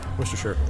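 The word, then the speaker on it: Worcestershire: Worstershure. Worst sauce. Worst sauce. Spell that one.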